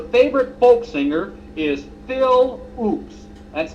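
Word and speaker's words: Ochs: baz contends her favorite folk singer is Phil oops that's spelled o c HS the other day when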